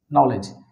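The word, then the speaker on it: knowledge: তারপরে আরো কিছু শব্দ আছে, যেমন আমরা বলি নলেজ, কে এন ও ডাব্লিউ এল ই ডি জি ই, নলেজ, এই কে এবং এন থাকার কারণে এই কে এর উচ্চারণটা কিন্তু এখানে হচ্ছে না, কে এবং এন থাকার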